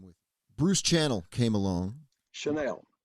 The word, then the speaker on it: Channel: Chanel. I know it's spelled Channel, but he says it's Chanel.